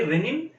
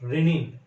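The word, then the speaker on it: rennin: Renin, there is another word, R-E-N-N-I-N. Okay, please remember, the pronunciation is the same, but the functions are different. You have to keep that point in mind. Okay, renin and renin, here both.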